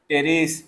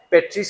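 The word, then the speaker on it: Pteris: সেটা হচ্ছে কে টেরিস তাইলে উচ্চারণ কি হবে টেরিস হ্যাঁ পেট্রিস কইও না আবার পি হবে না যেমন সুনামি আমরা সুনামি যখন বলি সুনামির উচ্চারণ কি সামনে কি থাকে টি থাকে টি সাইলেন্ট থাকে তাই না তাইলে এখানেও টি সাইলেন্ট এক জায়গায় টি সাইলেন্ট এখানে কে সাইলেন্ট পি সাইলেন্ট বুঝছো মানে যার যেখানে জায়গা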